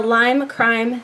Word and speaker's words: Lime Crime: is going to be the Lima crime side I'm so proud of myself actually saying it correctly this time as you can see